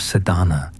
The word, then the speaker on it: Sadhana: A word may be added about the pronouncing of Sadana. The accent falls decisively on the first EA which has the broad sound of the letter.